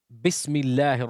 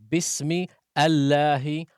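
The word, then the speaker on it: بسم الله: So when we say Bismillahi Ar-Rahman Ar-Rahim, we do not say Bismi Allahi Ar-Rahmani Ar-Rahim.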